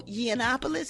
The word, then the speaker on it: Yiannopoulos: $116,000 invoice from Milo Yiannopoulos. Is that how you say his name? Yiannopoulos? Yeah.